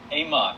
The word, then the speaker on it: AMOT: And the company, you pronounce the name AMOT? AMOT, yep, AMOT Controls.